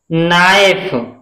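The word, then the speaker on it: knife: शुरुआत के से है लेकिन के तुरंत बाद एन है, तो हम इसमें के का उच्चारण नहीं करेंगे, किसका करेंगे? नाइफ, नाइफ।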